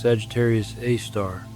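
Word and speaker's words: Sagittarius A*: This object is called Sagittarius a asterisk, pronounced Sagittarius A star, and it is more than 4 million times the mass of our sun.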